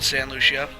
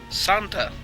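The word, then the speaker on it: Santa Lucia: You'll start off in San Lucia, or is that how you pronounce that? Santa, not San.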